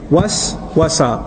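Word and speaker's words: وسوسة: When you whisper over and over again, and you don't stop, it's called waswasa.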